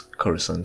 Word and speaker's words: Coruscant: spelled Coruscant and for some reason the Canon pronunciation is corazon so when I beam over this it's suspected